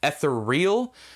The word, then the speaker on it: ethereal: Another one was ethereal. He pronounced it ethereal, which is a common mistake.